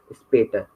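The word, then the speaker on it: später: आमिट उमलाउट का वर्ड में प्रोनाउंसिएशन ए होगा, जैसे सुन बाइस पे for example स्पेटर, स्पेटर, स्पेटर right, स्पेटर, स्पेटर means letter होता है। ठीक है, प्रोनाउंसिएशन स्पेटर, ए आ रहा है बीच में प्रोनाउंसिएशन में हाँ जी सर।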